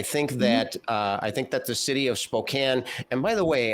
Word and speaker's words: Spokane: And by the way, am I the only one that pronounces it Spokane? I noticed that some of you said Spokane. I hope this is not another pecan kind of thing.